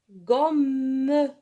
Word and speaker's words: gomme: لماذا أشدد على حرف الأم عندما يلتقي حرفان مع بعض فنشدد على الحرف مثل الشدة في اللغة العربية. مثلا juste les consonnes. Deux consonnes en même temps. Alors on veut معناها يعني نشدد على الكلمة. On dit une gomme.